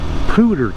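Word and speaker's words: Poudre: you can actually go to this place called pooter Canyon not p double o t e r but p-o-u-d-r-e cannon cannon Canyon um pronounced cooter Hooter so they make a lot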